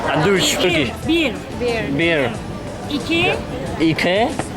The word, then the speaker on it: bir: Bir. İki. İki. 3. 3. Alkış. One, bir. Bir. 2. 3. 3. También es bir.